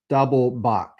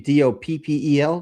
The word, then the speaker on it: Doppel: I swear to God, it says doublebach. Double doubl e. Doublebach. But I have never pronounced a dppelbach that way. So, I think it's supposed to be d o p p e l doppel.